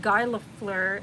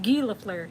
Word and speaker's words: Guy Lafleur: the hockey player's not Guy Lafleur, it's Right. Guy Lafleur.